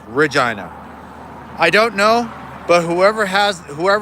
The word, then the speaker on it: Regina: Yes, it does sound like vagina. And it is pronounced Regina.